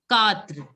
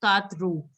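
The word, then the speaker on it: quatre: See, a, the, tua, katra. Some of you say katru, which is wrong. It is katra.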